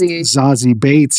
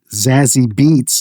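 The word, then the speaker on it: Zazie Beetz: Is pronounced Zazy Bates and not Zazzy Beats like it's spelled.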